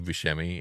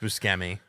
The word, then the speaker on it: Buscemi: And I don't know what show it's from, but it's Steve Buscemi, and he's like at a high school undergrad.